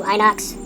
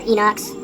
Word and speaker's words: Inox: A Betta 92 Inox or Enox. It's spelled I N Ox.